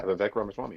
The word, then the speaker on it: Vivek Ramaswamy: I actually know a guy who's running his campaign, Vivek Ramaswamy. Am I saying it right? Oh, you have been, yeah, Vivek Ramaswamy, yeah.